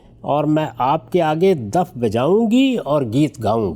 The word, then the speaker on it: دف: سامنے گیت گاؤں گی۔ یہ لفظ عربی زبان میں تو دف تلفظ کیا جاتا ہے، لیکن اردو زبان میں اس کا یہ تلفظ اب رائج ہو چکا ہے، یعنی دف بجاؤں گی اور گیت